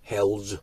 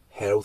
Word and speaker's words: Hells Angels: thinks it is pronounced health health angels you know but uh hells is like a hell right opposite of having health angels sounds like